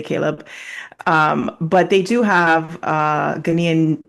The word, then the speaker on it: Caleb: So their first names are both Hebrew, so Ezra, and Caleb or Caleb, depending how you pronounce it, but we say Caleb.